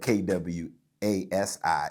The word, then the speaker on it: Kwasi: It's spelled Kwasi in Ghana, just like Casey, but with a Quay in the front of it.